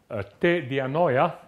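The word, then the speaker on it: τῇ διανοίᾳ: word, in the thought, te dianoia, the E is written below the alpha and is not pronounced, te dianoia, namely, we have to imagine the following thing.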